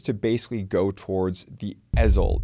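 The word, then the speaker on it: Ezell: In this case, the Supreme Court ruling appears to basically go towards the EZL, the E-Z-E-L-L, for those of you on your lawnmowers, alternatively pronounced, the EZL ruling, that we've basically mentioned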